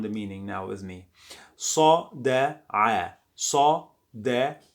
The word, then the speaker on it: صدع: this I saw, and the sound is not a, it is I. You get it from your deep throat. If you can't pronounce it, so you can say it is like a, as most of foreigners.